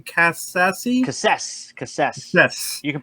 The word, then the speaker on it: Cassese: Cassese. Yes. You can pronounce it any way you like, though, because I don't like to be particular about it.